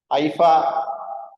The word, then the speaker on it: AIFA: for joining this is the second IFA that's how we pronounce it I don't know how